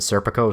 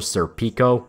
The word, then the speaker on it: Serpico: There's some people who call Farnese Farnese and Serpico Serpico. It's not technically wrong, but it's acting it it's adding extra steps to pretty simple names.